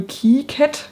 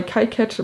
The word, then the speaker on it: KiCad: Heißt es KiCad oder heißt es KiCad? Also ich glaube, nachdem die ursprünglichen Entwickler Franzosen sind oder waren, ist wohl KiCad eher die richtige Aussprache. Ich war bisher immer bei KiCad, mal gucken, wo mein Gehirn hängen bleibt.